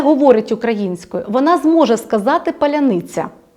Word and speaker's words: паляниця: ще пов'язано з артикуляцією в російській мові немає м'якого звука ц Тому їм вимовити їх артикуляційний апарат сигналів з мозку не не надходить так і тому вони скажуть залізний цар вони скажуть паляниця тобто у них вони